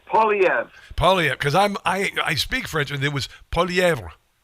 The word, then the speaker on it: Poilievre: It's Poilievre.